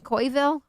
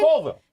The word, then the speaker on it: Colville: We got 509 Kyle checking in from, I think I say it wrong all the time, Coyville, Washington? Colville.